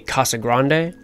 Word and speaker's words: Casa Grande: Let's check out the Casa Grande ruins. Now, for the record, I understand the correct phonetic pronunciation to be Casa Grande.